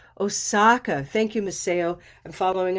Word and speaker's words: Osaka: But that's a very well-known city among Americans, Osaka. And we say that with an olive sound, second syllable.